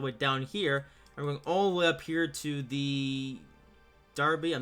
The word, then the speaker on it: Derby: Yes, it's pronounced Derby, not Derby, so yeah.